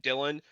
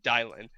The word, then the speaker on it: Dialin: Now, I'm realizing chat's calling out that Dylan, when Robo wants to hide his identity, he goes by this name. It's actually pronounced Dialin.